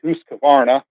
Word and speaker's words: Husqvarna: So where I'm at today is I work for to say it properly, Husqvarna.